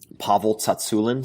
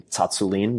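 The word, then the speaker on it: Pavel Tsatsouline: the protocols that Pavle Tatsulin, some people say his name Tatsulin, but it's Pavle Tatsulin, who really popularized kettle bells in the United States, some of his programs are just amazing.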